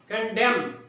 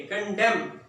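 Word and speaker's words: condemn: कंडेम, यहां पे एन को साइलेंट करेंगे, कंडेम, क्रिटिसाइज करना।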